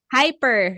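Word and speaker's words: ὑπέρ: what's the second word let's read this it's hyper remember hyper hyper hyper hyper so we have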